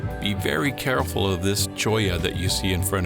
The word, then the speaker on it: Cholla: Also be very careful of this cholla that you see in front of you.